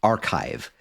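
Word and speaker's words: arXiv: here website called the archive now you may not that that's not how it's spelled it's spelled a RX i v um it is I believe a play on the Greek letter Kai because physicists you know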